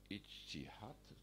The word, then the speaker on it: ijtihad: One is the concept of ijtihad, do I pronounce that correctly?